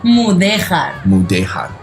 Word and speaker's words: Mudéjar: How do you pronounce that? Mudéjar.